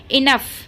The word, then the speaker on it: enough: उसके बाद है इनफ। इनफ में आप देख रहे हैं, पहले मैं आपको इसकी स्पेलिंग बता देती हूँ।